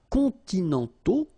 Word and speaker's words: continentaux: Okay, so les climats continentaux. Remember, final X not pronounced, and then this A, U together, they give you the sound O.